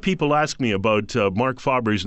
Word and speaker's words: Faber: ask me about Mark Faber's name people think it's Faber it's not fa it's Mark Faber that's how he pronounces his name he was interviewed on